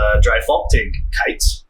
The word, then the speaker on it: Dreifaltigkeit: It's a little bit hard to say as it's a German term, but it's Dreifaltigkeit. Is how you say it. German's very phonic oriented, so it's you can just kind of sound it out once you know the terms, but.